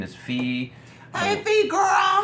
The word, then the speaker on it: Phee: Her name is Fee. Hey, Fee girl. Fee is spelled Phee.